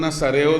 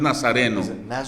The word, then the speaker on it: nazareo: se dice en inglés porque no es Nazareno es nazareo alguien lo dio lo